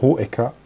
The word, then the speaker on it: Hoecker: aus dem Namen, sondern dass man das E wirklich als eigenen Buchstaben pronunziert. Pronunziert. Yeah. Aha. Und deshalb wird, und daran hat sich auch sofort jeder gewöhnt, Bernhard Hoecker auch Hoecker ausgesprochen.